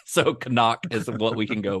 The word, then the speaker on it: Knock: call him call him kanak kanak which maybe is a German pronunciation I don't know you